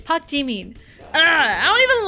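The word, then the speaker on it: Park Jimin: Like, uh, again, Pakim turns into Park G. Park Jimn. It's like, no. Ah, that felt so wrong for me to say. It's Pakin.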